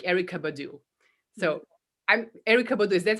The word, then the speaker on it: Erykah Badu: So I'm Erykah Badu. Is that how you pronounce her name?